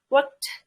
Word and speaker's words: worked: Untuk yang belakangnya regular seperti ini, cara bacanya itu aspirated atau keluar udara. Jadi kayak biasa aja work-nya, terus D-nya itu kayak keluar udaranya. Boleh dicoba teman-teman kalau mau worked.